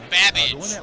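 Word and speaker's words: Babbage: Your buzzer is the letter B as in babage, which is something that rhymes with cabbage.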